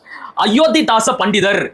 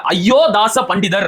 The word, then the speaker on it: அயோத்திதாச பண்டிதர்: அயோத்திதாச பண்டிதர் என்பதற்கு பதிலாக அயோதாச பண்டிதர் அப்படிங்கிறாரு.